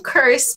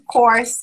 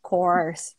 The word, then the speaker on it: course: Não vai fazer um curse por aí, não. Faz o course, que é melhor.